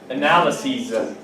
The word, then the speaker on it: analyses: Analyses. Yes. What's the basis for your argument? Basis. Basis. Bases. Basis. The pronunciation changes. Basis, bases. Analysis, analyses. Crisis, maybe the best word here in this category.